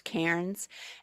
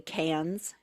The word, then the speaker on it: Cairns: It's written Cairns, which you would think is Cairns, and they just say Cairns. So yeah, they kind of drop their R's sometimes.